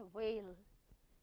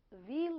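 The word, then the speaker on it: veil: बाकी इसकी सही प्रोनाउंसिएशन होती है वेल, ई की साउंड आती है, लेकिन हम इसको सुविधा के लिए क्या बोलेंगे, वेल। व्हील बिल्कुल नहीं बोलेंगे।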